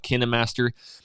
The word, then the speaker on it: KineMaster: app called kinemaster kinemaster i don't even know how it's pronounced but i call it canon master it's with a k and you can find